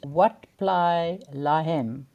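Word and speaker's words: Wat Plai Laem: island, and also it was part of the complex of temples there called Wat Plai Lahem. I think that's how you pronounce it. WAT Wat PLAILAEM.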